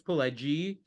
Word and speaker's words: Pileggi: Nicholas Pileggi, Wise Guys.